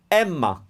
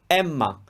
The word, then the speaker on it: Emma: emilia emilia another name emma emma here the difference emilia the opening a was closed but for emma we opened it up why well because out of the two c levels emma which one is the